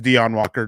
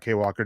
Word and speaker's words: Dion Walker: And Charlotte comes in and saying that it's Dion Walker, not Kay Walker.